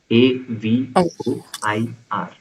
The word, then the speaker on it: avoir: We use avoir which is to have a v o i r pronounced as avoir.